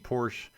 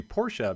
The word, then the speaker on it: Porsche: wondering I've been saying Porsche my whole life until recently and I was told that it's actually Porsche because it is based on the way the family's name is pronounced in German so apparently technically it